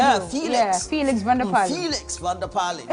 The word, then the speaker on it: Felix Vander-Pallen: Felix, let me pronounce the way he does it. Yeah, Felix Vander-Pallen. Cookie tea style. Yeah, Felix Vander-Pallen. That's how he himself used to say it on radio.